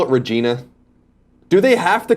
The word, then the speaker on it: Regina: so checking in from Regina Saskatchewan the city that rhymes with fun Colin and Greg live